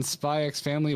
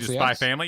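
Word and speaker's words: Spy×Family: The X is silent.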